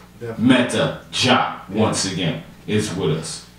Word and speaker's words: Meta Dia: Yes, my name is Meta Jah. A lot of people pronounce it the Jia as Dia, so it's the same.